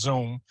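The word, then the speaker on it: Xoom: I believe it's pronounced Zoom it's x-o-o-m not Z but I believe it's still pronounced zoom and they can provide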